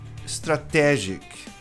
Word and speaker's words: strategic: A maioria das pessoas diz strategic. Stra strategic.